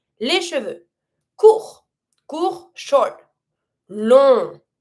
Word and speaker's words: long: Long. And we don't pronounce GS.